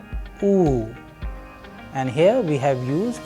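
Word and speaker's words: Ы: Please pay attention when I am pronouncing so that you can also master the sound. The letter is known as U, U, and you have several words in Russian.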